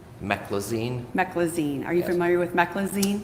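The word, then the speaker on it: meclizine: Um I'm not going to pronounce this correctly. Me e c l i z i n e. Meccloine. Mecclazine.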